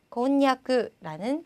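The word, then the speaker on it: こんにゃく: 자, 그 다음 니에다 붙어서 냐, 뉴가 되었는데 보니까 우리 곤약이라고 부르는 것 자, 일본식으로는요. 곤냐크라는 발음이 있고요.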